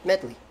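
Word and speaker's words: Medli: No, I mean how you pronounce her name. Medley. Yes, Medley.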